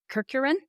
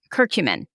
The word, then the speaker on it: curcumin: ask you about two supplements omega-3s and um curcurin is that how you say it the cumin no it's not cumin it's um or cumin yeah curcumin turmeric yes from turmeric exactly yeah which you